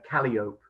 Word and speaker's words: calliope: at this point that in riverboat culture, in the river world, the calliope is often pronounced calliope, and so I apologize. I'm gonna continue to say calliope because it's just what I'm used to. But if you correct me, I will concede that you're right.